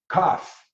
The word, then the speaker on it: kaph: So now the next one, number 11 here, K is for cough, not like a KAPH is how they spell it.